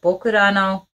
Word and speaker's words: ぼくらの: 11 hours uh so the title is I think it's like translated Japanese way it's writing and the way you would pronounce it so bokurano and if my Google is translating things correct